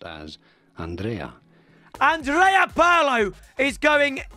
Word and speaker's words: Andrea: five star skills beautiful haircut bit awkward on andre is pronounced as andrea andrea paulo is going right mid for some